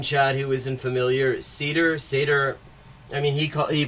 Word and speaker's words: Seder: Seder. I mean he he pronounces it cedar but in Hebrew and Yiddish uh sedar s e d e r refers literally to